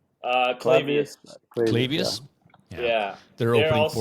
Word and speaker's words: Clavius: So, Clavius, is that pronounced correctly? Clavius.